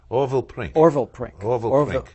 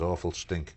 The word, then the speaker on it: Orville Prink: And all the vermin keep mispronouncing as awful stink.